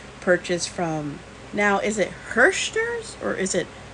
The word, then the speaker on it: Herrschners: from now is it hearsters or is it irshners because personally I think the H is silent but correct me if I'm wrong so it's my first